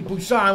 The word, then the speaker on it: Busan: Well, we're supposed to correct the pronunciation of Train to Busan, which starts with a B, not the P.